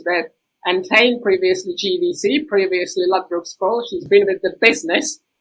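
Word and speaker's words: Lyčka: So just for the record, it's pronounced Lycka, no Lycka, no first beast in the space, no Lycka, no such thing.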